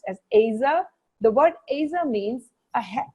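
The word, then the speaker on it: עזר: word helper is a hebrew word which is pronounced as asa the word asa means a helper who's in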